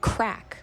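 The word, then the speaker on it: craic: thing i've learned is the word crack in ireland is spelled c-r-a-i-c and it basically means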